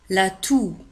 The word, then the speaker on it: toux: La toux. لاحظوا كذلك على أن تو تكتب في آخر الكلمة ب X ولكن لا ننطقها، لا تنطق. لا تو.